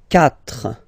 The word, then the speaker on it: quatre: Final s not pronounced. Trois. Quatre.